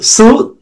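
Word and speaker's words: つ: সু, এই সুটা হচ্ছে এর উচ্চারণ হবে টি এস ইউ, সুনামি।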